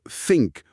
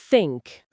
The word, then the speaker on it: think: Ce son n'existe tout simplement pas en français. Il faut donc créer un nouveau réflexe. La langue doit passer très légèrement entre les dents. Écoutez bien. Think.